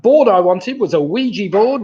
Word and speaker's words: Ouija: i wanted was a ouija board ouija of course rhymes with fiji so ouija and fiji well then